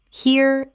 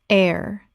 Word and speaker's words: heir: rawt rawt Word 190 heir Common mispronunciation here or hair Correct pronunciation air The h is completely silent. It sounds exactly like the word air.